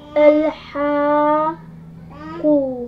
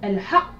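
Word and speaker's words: الحق: ça se prononce Al-Haqq. al-haqq.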